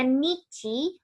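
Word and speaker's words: 日: Nah, ini dibacanya nichi.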